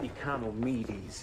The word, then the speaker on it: Economides: Oh, and it's pronounced Economides. Yeah, I know. He don't look Greek.